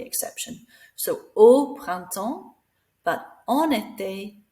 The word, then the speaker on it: en été: So we slide it together so that vowel pronounces the N. En été, en automne.